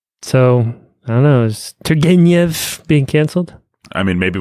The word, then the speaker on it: Turgenev: I think it's Turgenev. Is that how you say it in English? That's how I've always said it. Turgenev. Not the soft G, but it's hard.